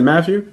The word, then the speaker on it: Mathieu: How do you say his name? Honey Badger. Tyrann Mathieu. Is it Matthew? Mm-hmm. Yeah.